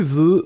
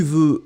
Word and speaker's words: veux: parler avec moi, tu veux me parler, vous voulez me parler, everything goes. Ice Cubes, be careful, tu veux, V-E-U-X, remember, we don't pronounce it, but it should be there.